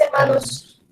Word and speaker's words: hermanos: Mis hermanos. Remember, H is always silent.